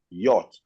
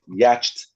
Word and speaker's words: yacht: There is no context and condition under which the word YACHT, by the way, pronounced as yacht, not yacht, and other things I've been hearing all over the place.